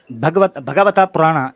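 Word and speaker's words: भागवत पुराण: चले मैं आपको भगवता पुराण का हवाला दे देता हूँ, ये आपके सामने है। ये भगवता पुराण या भागवता पुराण उसको कह लेते हैं, सही प्रोनाउंसिएशन, भागवता पुराण का चैप्टर नंबर 8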